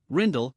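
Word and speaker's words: Rijndael: The advanced encryption standard AES also known by its original name rigid Dutch pronunciation rindle comma 3 is a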